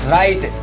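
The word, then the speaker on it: write: Second silent letter is डब्ल्यू। For example राइट, राइट means लिखना।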